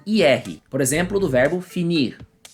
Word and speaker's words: finir: por exemplo, do verbo finir. Aqui a gente já ouve um pouquinho o som do R no final, né? Finir.